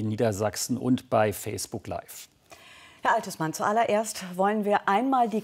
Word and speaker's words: Althusmann: und bei facebook läuft altes man zuallererst wollen wir einmal die korrekte aussprache ihres namens klären seit neuestem legen sie wert auf die betonung auf der zweiten silbe also althusmann warum jetzt noch nicht